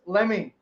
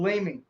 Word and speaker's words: Leeming: from the leads rhinos cruz lemmy or leeming that's how to pronounce his name cruz lemming keep your eye on